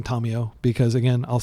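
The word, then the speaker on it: Tamiyo: telling me I'm mispronouncing Tamio, because again, I'll say that she is from the Kamigawa plane and Japanese is the language of that plane, and her name is pronounced in the Japanese manner.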